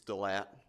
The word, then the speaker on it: Delat: It's Cajun. It's Delat, so you just don't pronounce the S's.